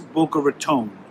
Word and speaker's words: Boca Raton: So it is Boca Raton.